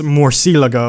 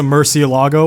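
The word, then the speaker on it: Murciélago: the cars pronounced like apparently it's more Cielo go as their original pronunciation but everyone that says a Murcielago or Murcielago instead so it's I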